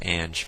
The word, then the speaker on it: Ange: party is for Ange I said orange because I like calling her that or him that but it's pronounced Ange but anyways this welcome